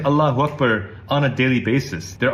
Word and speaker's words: Allahu Akbar: It's pronounced Allahu Akbar. Allah Akbar. No. Allahu Akbar. Allah Akbar.